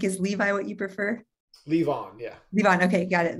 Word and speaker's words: Levon: Levon, yeah.